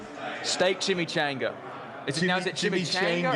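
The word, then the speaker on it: chimichanga: I don't know how to talk, but it's Chimmy Changga. That's how you pronounce it.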